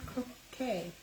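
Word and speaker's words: Croque Madame: Croquet Madame Casserole? I don't know. This uses the rosemary herb seasoning, 12 bread slices, a pound Crochet. of deli ham. Croquet, not crochet.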